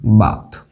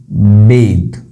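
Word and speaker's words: bathe: लेकिन अगर मुझे इतना लंबा नहीं जाना, मुझे शॉर्ट चाहिए, तो मैं इसको बोलूंगा आई बेद। ध्यान रखना, आई बाथ नहीं, आई बेथ नहीं, आई बेद।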